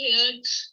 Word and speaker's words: heard: H-E-R-D, heard. H-E-A-R-D is also heard. Okay? It is not heard. Heard is wrong.